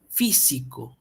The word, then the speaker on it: físico: una de ellas acá físico Dónde lleva la mayor fuerza de voz fico sí o no físico Entonces es una palabra esdrújula Y qué nos decía